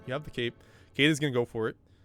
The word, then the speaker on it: Kaede: Since it looks Japanese, I would pronounce it Kaede.